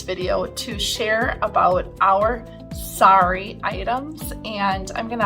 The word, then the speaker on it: sari: you might decide to purchase as well so sorry is spelled s-a-r-i and the sorry fabric is worn